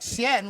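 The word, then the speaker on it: Xian: And so literally uh like shien which is x i an is the now modern pinging version of of romanizing that. Oh. So the x is always pronounced as an h.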